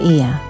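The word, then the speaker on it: Oia: to the Bay by the town of IA stra how they pronounce the name of the city again o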